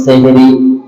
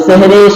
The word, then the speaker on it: সাহারি: সর্বপ্রথম করি সেটা হলো সেহরি যদিও আমরা বলি সেহরি শব্দটা আরবি এটা শুদ্ধ উচ্চারণ হলো সাহারি শুদ্ধ উচ্চারণ কি সাহারি বলেন সাহারি এখন তো আমরা শুদ্ধটা